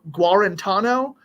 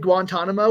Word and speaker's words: Guarantano: his first name but his last name is gu guarantano I want to say it it's not quite Guantanamo which is all you want to say so you always say it wrong and I appreciate it